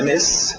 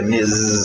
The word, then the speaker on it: Ms: outra abreviação MS e a pronúncia fica m som de z não é mes s é mes som de z Miss